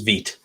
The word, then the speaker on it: Vite: It's Vite. Yeah, it's French for fast.